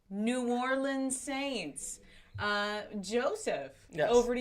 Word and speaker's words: New Orleans: let's hear it because this is how it's pronounced new orleans saints uh joseph over